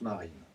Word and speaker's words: Marin: comme ça a2a et comme un marin mais ça se prononce marine c'est comme ça et